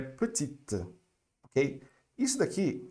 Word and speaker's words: petite: Então, normalmente no feminino, a gente vai pronunciar a última consoante, tá certo?